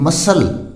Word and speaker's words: muscle: इसी तरह है नेक्स्ट जो वर्ड है MUSCLE, मसल। मसल क्या होता है, मांसपेशी, तो इसको हम प्रोनाउंस कैसे करेंगे, मसल, ये ध्यान रखना है।